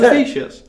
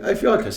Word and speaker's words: Ophiuchus: I thought it was Officious. No, Ophiuchus, I believe it's pronounced.